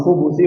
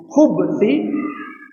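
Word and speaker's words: الخبث: Tapi kalau kita bacanya khubuthi bi taskinil ba, mensukunkan huruf ba, maka itu artinya apa? Kotoran. Namun riwayat yang paling banyak menyebutkan khubuthi.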